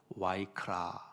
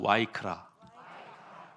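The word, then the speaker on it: ויקרא: 그 히브리어 발음으로 와이크라, 경상도 말로 와이카노. 그거랑 좀 비슷한 것 같은데 와이크라 외우기 쉽도록 제가 말씀을 드린 거예요. 한번 따라하시죠. 와이크라. 카라가 아니라 와이크라.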